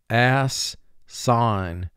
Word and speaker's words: assign: Ass-sign. Two syllables. First syllable, ass. Two sounds. A-s. Sign. Three sounds. S-I-N. Ass-sign.